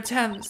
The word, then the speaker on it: Thames: Learning it's pronounced Thames fucked me up.